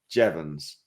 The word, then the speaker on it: Jeavons: moment ago so it's I'm joined by jevans and I think I've pronounced it I've got a thumbs up on